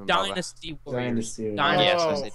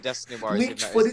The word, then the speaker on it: Dynasty Warriors: don't know why it's when I was younger I couldn't pronounce Dynasty so I just said Destiny so I've always kept